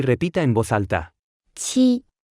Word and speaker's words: 七: 七，七，七，七，七，七，七。 Se pronuncia con el primer tono.